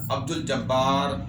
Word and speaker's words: عبد الجبار: مشکلات کا سامنا ہوگا۔ اب چونکہ جو حروف قمریہ ہیں ان سے پہلے اگر الف لام لکھا جاتا ہے تو وہ تلفظ میں بھی آئے گا، اس کی آواز بھی پیدا کی جائے گی۔ مثال کے طور پر